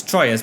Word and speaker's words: Troyes: That's how it's pronounced. It's Troyes, but it's pronounced Troyes.